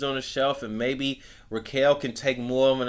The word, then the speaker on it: Raquel: They're trying to pump Rhea and Raquel, not Raquel, yeah, Raquel Rodriguez, and like nobody fucking cares, and it's like it's so bad.